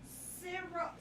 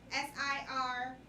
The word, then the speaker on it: Siriboe: But Kofi Sirgo. Cerbo? Bashir, yeah, that's his name. Who's that? What's he from? He's from Queen Sugar. I said his last name wrong. Kofi, Kofi. Absolutely not. Siriboe.